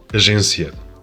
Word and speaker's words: agência: In both languages, the letter G represents a soft G sound rather than a G when it's followed by an E or an I. But the soft sound is different in either language.